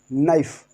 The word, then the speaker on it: knife: KNIFE नाइफ, KNIFE नाइफ, नाइफ पढ़ना है, सिर्फ नाइफ।